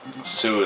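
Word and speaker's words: Sioux: the United States because you know Sue is spelled and the real spelling is s-i-o-u-x but that had to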